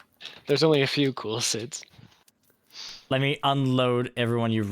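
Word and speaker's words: Cid: It's not Kid. It's Sid from Final Fantasy 14. Boo. Cool Sid's Club. Ooh. There's only a few cool Sids.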